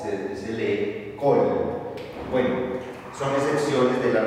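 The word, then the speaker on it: כל: palabra como en esta palabra que significa todo col aquí en esta palabra a pesar de que tiene un cex mírenlo aquí se pronuncia o y se se lee col bueno son excepciones de las reglas Entonces vamos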